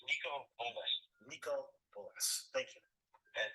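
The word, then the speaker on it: Niko Bolas: Did Michael Bolas use Pro Tools to record the album? All right, you mispronounced his name. His name is Nico Bolas.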